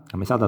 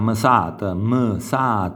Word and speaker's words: mesata: Nas, a mesata sarebbe, per chi non lo sa, lo stipendio mensile dell'impiegato o dell'operaio, quindi a mesat, sentite, c'è dopo la M c'è quel suono mesat, o cuttun, vedete la